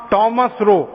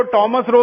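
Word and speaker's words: Thomas Roe: था उसका नाम था थॉमस रो। अंग्रेज उसको टॉमस रो भी कहते हैं, थॉमस रो भी कहते हैं, दोनों उच्चारण उसके नाम के हैं।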